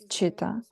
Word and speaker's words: citta: Et en ancienne prononciation en tibétain, c'était citta. Pancha, 5, c'était pansa. Donc bodhi et citta.